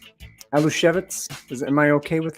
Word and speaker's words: Aluskewicz: I'm going to say Alo shevitz is am I okay with that that yes that's a good polish pronunciation okay of course Al